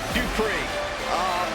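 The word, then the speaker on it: Dupri: Here comes the talented Maxine Dupree. Michael, it's pronounced Dupree.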